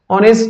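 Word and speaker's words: honest: অনেস্টের উচ্চারণে এইচ এর উচ্চারণটা সাইলেন্ট হয়ে যাচ্ছে। মানে এখানে উচ্চারণ হচ্ছে না। তাহলে অর মত উচ্চারণ হচ্ছে।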